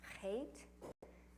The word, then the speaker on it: chet: Slide 61, we have our chet, and like bach or bach, how you say it, chutzpah.